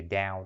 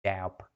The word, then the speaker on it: doubt: No doubt nó có chữ B nhưng mà không cần đọc, không có chữ B nha các bạn. Chữ doubt đó đọc giống như là doubt. Có chữ B em đó nha. Ai mà đọc là doubt không có đâu nha. Doubt. Nó có chữ B lúc viết nhưng mà đọc lại không có.